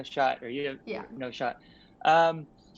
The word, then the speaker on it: n0shot: And is that Yeah, how it's pronounced? I hope, because that's what I've called you forever. it is. Yeah, it's no shot.